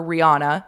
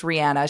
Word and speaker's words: Rihanna: We used to all call her Rihanna. It's Rihanna.